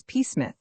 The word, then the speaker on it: Psmith: My name, perhaps I ought to reveal to you, is Pith. The P is silent, and until very recently I lived in affluence, not far from the village of much Middlefold in this county.